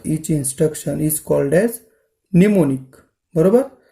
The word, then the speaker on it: mnemonic: मग तिथे काय केलं, या प्रोग्राममध्ये ॲड, मूव, INC किंवा एंड हे जे दिलेले आहेत ना, याला म्हणतात निमोनिक. काय म्हणतात, निमोनिकचं स्पेलिंग बघा, MNEMONIC, निमोनिक.